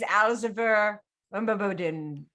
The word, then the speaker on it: Alziver Umbabodin: My name is Alziver Umbabodin. And that is how it is pronounced. Any version of that will be fine as long as you mumblecore the final 5 syllables.